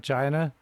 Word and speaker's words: chi: Uh Uh uh Okay, so we've been playing these videos of Alan, is it pronounced Xi like the president of China, emperor of China?